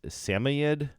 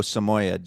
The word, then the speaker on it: Samoyed: Chinese sharpi siberian husky 1% how do you say this seamied oh Samoyed Samoyed which is very like a